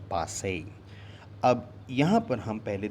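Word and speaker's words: passé: याद रखिएगा इसका सही प्रोनाउंसिएशन है पासे, पासे।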